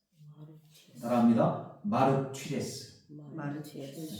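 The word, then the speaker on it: μάρτυς: 입니다 근데 여기 진인이라는 의미는 헬라어로 따라해 보겠습니다 마르스 마르 따라합니다 마르스 마르스 저 입술을 바라봐야 돼 그래야지 제대로 발음할 수가 있어요 주세요 마르스 마르스 자가 자입니다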